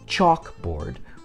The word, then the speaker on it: chalkboard: in English for instance in the word chalk board we put the emphasis on the first syllable chalk we say chalk board not chalk board which would put the stress on the second the vowel sound in